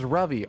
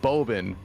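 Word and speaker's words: Ravi: up to them and I say my name is rvy r a v i and they're like boben b o b n I'm like wow you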